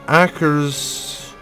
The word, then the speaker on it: Akershus: Also, I've been informed that Akershus is how you pronounce this.